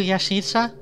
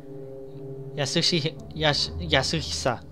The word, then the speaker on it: Yasuhisa: Are you Yashisa? Yasuhisa.